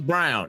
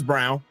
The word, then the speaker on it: Braun: It's Brown. It's Brown. It's Brown. Brown is playing a hell of a game. It's spel it spelled like Braraw, but it's pronounced Brown.